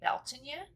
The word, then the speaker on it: Bealtaine: celebrating is Beltane or if you're living in Ireland pronunciation would be Belgian you and that is the